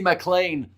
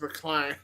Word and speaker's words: McLean: And it will be Casey McLean who gets the try for New Zealand. Oh, Casey McLean. Casey McLean? McLean or McLean? Probably McLean. I would imagine it's McLean.